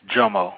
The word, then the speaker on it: Jomo: No, actually, brother, this is Jomo with a hard J. Jomo.